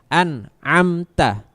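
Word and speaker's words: أنعمت: An huruf pertama hamzah, kedua nun, ketiga ain. An'amta.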